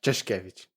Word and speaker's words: Czeszkiewicz: So we are live with Czeszkiewicz. I think that's how you say it, right? Czeszkiewicz. Yeah, Czeszkiewicz.